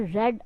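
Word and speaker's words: read: अच्छा, अब ये रीड की सेकंड और थर्ड फॉर्म के स्पेलिंग एक जैसे ही होते हैं, तो पढ़ने में इसमें फ़र्क है। जब फर्स्ट फॉर्म पढ़नी है तो रीड पढ़ना है, सेकंड और थर्ड पढ़नी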